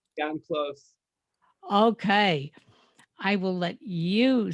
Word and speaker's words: Jann Klose: did I pronounce it wrong? Yes, Okay, then pronounce it for us. Jan Close.